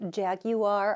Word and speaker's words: Jaguar: sure about you say jaguar are there three syllables when you say that or is that a Kansas thing I grew up watching